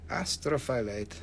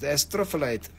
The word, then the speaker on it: astrophyllite: to backlight it nothing astro astrophyllate astrophyllide astrophyllite yes this is a better way to pronounce it astrophyllite that one is a